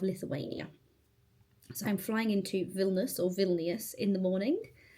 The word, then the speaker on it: Vilnius: But my eyebrow technician says it's not pronounced Vilnius, even though that's how it's spelled. It's pronounced Vilnus.